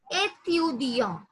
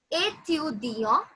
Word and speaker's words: étudiant: Yeah, as I told you, T is silent. As I have already mentioned you before, that the last letter in French is always silent. But again, étudiant, which means a student.